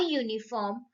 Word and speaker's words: uniform: For example, a university, a uniform, a useful thing. So children, when we pronounce these words, no, Y sound is there. University, Y. Uniform, Y.